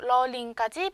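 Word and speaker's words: ล ลิง: 여기 R과 L, 러르아, 러링 차이 좀 들리시나요? 러르아, 러링. 요 러르아 같은 경우에는 아르르 소리가 나요.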